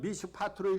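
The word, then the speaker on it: מִשְׁפָּט: 근데 이스라엘 백성들이 히브리어로 읽을 때 어떤 경우에는 미슈파트로 읽었어요. 이거 정의입니다. 그리고 이 포악이라는 단어를 미슈파흐로 읽었어요. 여러분 두 단어가 발음은 비슷해요. 근데 의미는요 180도 달라요.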